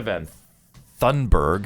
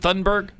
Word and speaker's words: Thunberg: I think I said her name wrong. Is it Thunberg? Yeah. Oh yeah, because that's right. I want to call her Van Thunberg all the time. Greta Van Susteren. It's not. It's not Van Thunberg.